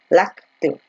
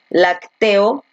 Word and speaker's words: lácteo: Lácteo, ¿no? Porque tú dices lácteo, tú no dices lacteo, tú no dices lacteo o tampoco lacteó, ¿no?